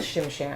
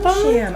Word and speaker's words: Shim Sham: Shim Sham. I just like to say it. Say it, Shim Sham. Rhymes with Tim Tam, which is a dessert that some people like.